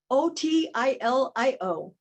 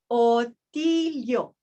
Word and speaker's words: Otilio: It is totally phonetic, 6 letters. O-T-I-L-I-O. I'm going to teach you how to say it. Lesson 2, repeat after me. Otilio. Otilio. Easy, right?